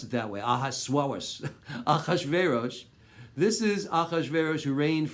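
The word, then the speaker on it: אחשורוש: It came to pass in the days of, don't pronounce it that way, Achashverosh.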